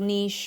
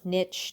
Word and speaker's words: niche: And I keep thinking at some point that I'll find a little niche or niche, depending on how fancy whatever it is I'm doing is, determines how I actually pronounce that word.